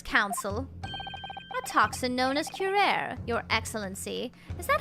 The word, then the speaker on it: curare: A toxin known as curare, Your Excellency. Is that how it's pronounced?